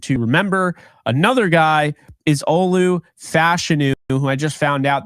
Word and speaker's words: Olu Fashanu: Another guy is Olu Fashanu, who I just found out that's actually the way to pronounce his name. Olu Fashanu here, the tackle out of Penn State, does not get enough credit.